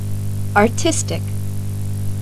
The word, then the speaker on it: artistic: Например, при добавлении суффикса IC. ударение перемещается на слог, предшествующий этому суффиксу. Послушайте следующие пары слов. Artist. Artistic, Economy.